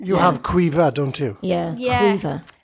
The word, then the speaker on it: Cifa: CIFA. CIFA. Oh, Cifa. yes, yeah. It's It's spelled a Welsh way, but it's actually an Irish name. You have Quiva, don't you?